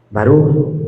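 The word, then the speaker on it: ברוך: Baré Yahwe. Barú Yahweh. Así es. Barú.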